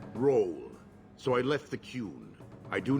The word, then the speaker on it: Qun: will leave okay I've been calling it The Kun this whole time it's actually the cune and also I've been saying fetus and I